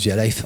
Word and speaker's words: Vialife: pour retravailler la phonétique typiquement un via life pour qu'il se prononce via life en audio si on le retravaillait pas en phonétique il se prononcerait via LIF et donc en fait